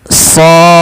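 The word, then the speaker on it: ص: Nah, cara membacanya adalah kita memanjangkan shadnya ini sepanjang shya sepanjang enam harakat.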